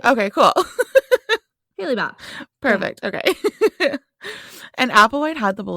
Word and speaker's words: Hale-Bopp: Now, at that time, there was a comet coming called, I'm just going to pronounce it how I believe it's supposed to be pronounced, okay? Okay. Hale-Bopp. Yeah, that's right. Okay, cool. Hale-Bopp.